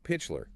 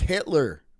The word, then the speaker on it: Hitler: do just refill so pitler he was a member of the Nazi party but later it's pronounced Hitler Hitler God AI can never pronounce Hitler claimed he only joined